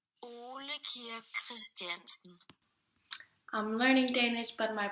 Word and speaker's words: Ole Christiansen: It was founded by Ole Christiansen, and a better pronunciation of that is Ole Christiansen.